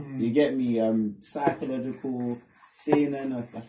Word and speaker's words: seinen: Psychological, seinen.